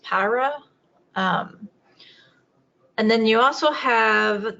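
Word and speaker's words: pyuria: They've actually finally defined that particular road, which is, I think it's actually pronounced Pyra.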